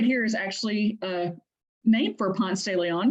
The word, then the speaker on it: Ponce de Leon: This street right here is actually named for Ponce de Leon, but in Atlanta, it is pronounced Ponce de Leon.